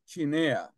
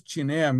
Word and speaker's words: Chinea: My name is Chinea. It's spelled Chinea.